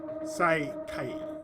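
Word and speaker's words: 再会: Oh, yeah, by the way, it's pronounced Sigai for corpse. Saikai for reunion.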